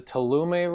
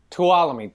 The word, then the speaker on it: Tuolumne: of it is i don't know how you pronounce it as the tolume river swallow yeah tuolumne thank you pete in uh near yosemite right